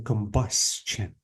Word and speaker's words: combustion: Usually the stress falls on the syllable before the ION. So if I want to say this word, I have to say pollution. And if I want to say this word, I have to say combustion.